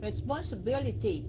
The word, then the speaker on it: responsibility: Responsibility. Nó có năm âm. Responsibility. Dầu cho mình đọc nhanh cũng phải có sáu âm nha. Responsibility. Responsibility. Đâu có nghe cái âm thứ ba đâu.